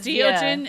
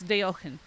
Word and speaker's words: Deogen: Like instead of Deogen, it's Deochen. They're not English words, so that's why it sounds weird, but everyone says Deogen or just Dio.